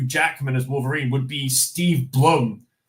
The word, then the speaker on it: Steve Blum: as Wolverine would be Steve Blum. Or Steve Bloom. I'm pretty sure it's pronounced Steve Bloom.